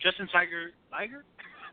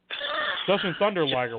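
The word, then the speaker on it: Jushin Thunder Liger: Justin Tiger, and I always say his name, Justin Tiger Liger? How do you say his name? Justin Tiger Liger, yeah. Yeah, all right, so I said it right. Liger. Wait a minute. Justin Thunder Liger.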